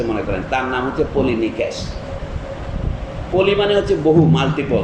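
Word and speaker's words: Πολυνείκης: আদেশ দিয়েছে আমাদের দুই ভাই, একজনের নাম অ্যাথিওক্ল্যাস আর একজনের নাম পলিনেকেস। আপনারা ইংরেজিতে ভুল উচ্চারণ করে, পলিনিসিস বলে, কিন্তু এটা গ্রিক উচ্চারণে করছি আমি, সি থাকলেও কে উচ্চারণ হয়।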